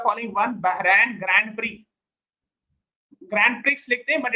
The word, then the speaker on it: Grand Prix: Bahan Grand Prix Grand Prix but it is pronounced as pre in formula.